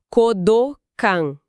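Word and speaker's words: 講道館: A pronúncia correta é com as vogais longas. Kodokan, não kodokan.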